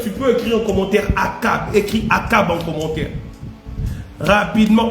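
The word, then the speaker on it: Achab: Akab, ça s'écrit avec A-C-H-A-B. Est-ce que tu peux écrire Akab en commentaire?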